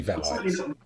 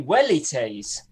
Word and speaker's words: velites: No, but velites can't be right. It must be velites. They're not velites. No, it should be wellites. Yeah, well, that's... Wellites. Yeah. Yeah, it's Wellites.